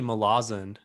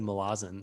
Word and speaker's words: Malazan: some of those yeah quick quick correction there it's actually malazan oh yeah yeah often often uh mispronounced but i listened to an interview with steven erickson he said malazan so we're we're going